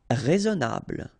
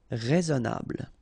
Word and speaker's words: Raisonnable: Raisonnable. Remember, I together, e. Raisonnable.